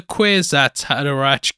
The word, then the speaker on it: Kwisatz Haderach: But a good way to remember it is, it was a Kwisatz Haderach, give a dog a bone.